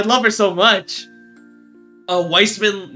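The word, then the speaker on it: Weissman: Uh, Wiseman, not Wiseman. Yeah, it's weird. It's spelled white like I'm pretty sure it's pronounced wise man, but it's spelled like white man, which I'm like, I don't know about that.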